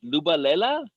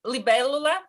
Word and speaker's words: libellula: Lubalela? Oh, libellula, but that's in Italian.